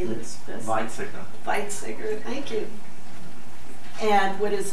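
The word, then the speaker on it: Weizsäcker: Frederick van how do you say this viter viter thank you and what is the Josephson effect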